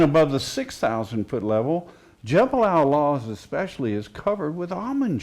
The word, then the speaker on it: Jebel al-Lawz: Jebel al-Lawz, or al-Luz, as you Al-Luz, say, as the Bedouin pronounce it.